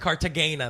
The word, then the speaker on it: Cartagena: mad at the hand hard to gain the Cartagena that's how they say it's all touristy but